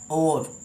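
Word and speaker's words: hour: तो यहाँ पे जो हम इसे हावर्स पढ़ते हैं, हावर्स नहीं है, ये हमारा और मतलब कम हेयर विद एन और। तो यहाँ पे जो हमारा प्रोनाउंस है आ से शुरू होता है, और तो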